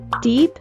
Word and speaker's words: deep: The double E is pronounced as the long E sound, which we produce by making our mouth wide, like a smile, while our tongue touches the sides of our teeth.